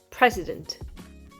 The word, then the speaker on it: president: nos oreilles de francophones par exemple président va se prononcer président alors outre le fait que le son en disparaît il y a en plus le president très étonnent l'accentuation est sur le début du mot et cette action tonique